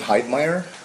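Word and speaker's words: Heidmeyer: And sir, if you please state your full name and then spell it for the record. Uh, it's Hydemire.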